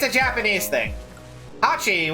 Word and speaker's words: hachi: it's a japanese thing hachi which is the number for eight the word how you pronounce eight in japanese is similar to apache which is the sound effect for clapping so they type